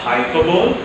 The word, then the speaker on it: hyperbole: So see, in this name shampoo, S stands for simile, then H stands for hyperbole, A stands for apostrophe, M stands for metaphor, P stands for personification, O stands for oxymoron, and O stands for onomatopoeia.